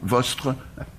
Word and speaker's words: vostre: ou un petit accent, vostre, comme je vous disais tout à l'heure, mais un S qu'on ne prononce pas.